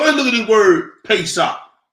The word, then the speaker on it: Pesach: look at the word pesach the pay shop is uh uh Hebrew pronunciation of the word Passover it is a sacrifice